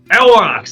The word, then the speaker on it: Aurochs: Aurochs, right? It's like a huge bison. Aurochs? I don't know. And then he turns in like, Aurochs, that's it, thank you.